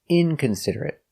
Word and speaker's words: inconsiderate: Inconsiderate with a stop t. Inconsiderate. Inconsiderate. Inconsiderate. Five syllables. Inconsiderate. Stress on the first syllable and third syllable.